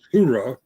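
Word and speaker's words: Hooah: I think it was the way he pronounced Ura or Hura. Army says Hura, and Marines typically say Ura.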